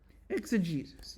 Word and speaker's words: exegesis: Is that how you pronounce it? You serious? Oh, why did I add an H there? It's exegesis, yes.